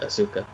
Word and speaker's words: Asuka: By the way, I completely pronounced Asuka's name incorrectly before. I couldn't think of how to pronounce it, and it said Asuka, but it's Asuka.